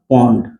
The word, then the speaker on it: पौंड: पौंड को शॉर्टकट में हम लोग LB कहते हैं, इसको पढ़िएगा पौंड।